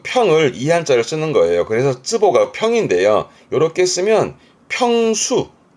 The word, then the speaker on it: 坪: 그래서 쓰보가 평인데요. 요렇게 쓰면 평수 몇 평이냐라는 뜻이에 평수가 되는데 이때 발음은 즈보스입니다.